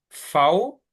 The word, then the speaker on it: V: S t u fau. La v se dice fau. También lo tenemos escrito ahí abajo y suena un poco como, o sea, la V suena un poco como la F.